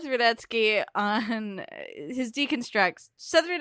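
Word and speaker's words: Rudetsky: own work is says Radetzky uh and his deconstructs southern etske deconstructs on YouTube his last name is spelled ru de he s KY we watch out for that T that's the sneaker once I would recommend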